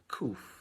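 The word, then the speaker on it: ק: If you look up that letter, the letter Kuf is how we pronounce it without the click, right?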